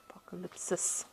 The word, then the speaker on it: Apocalypsis: So I'm just going to draw some cards from the Tarot Apocalypse and Apocalypsis. Okay, Apocalypsis Tarot. And let's see what's going on. I have been mispronouncing that word the whole day today.